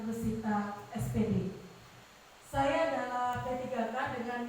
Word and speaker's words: Russita: adalah rusita SPD meskipun bicara rusita itu sulit biasanya kalau orang Jawa panggilnya Rosita tapi kalau ejaan yang benar rusita SD saya adalah P3K